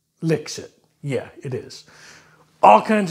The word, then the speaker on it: Lixit: lixit yes it's called licks it l-i-x-i-t pronounced licks it yeah it is all